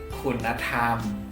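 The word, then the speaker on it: คุณธรรม: Ini dibacanya kunatham. Kunatham. Jadi jadi udah si nonen ini udah dipakai sama kun gitu, tapi dia nak lagi, ada a yang hilang dan si nonen ini mantul.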